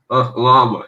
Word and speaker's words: llama: it called in english is it llama or yama how is it pronounced in english llama yeah yeah i was feeding a llama with